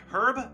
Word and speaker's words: herb: you die, but the herbs tend... Herb or herb? You're gonna say herb or herb, depending on, you know, how you want to pronounce it.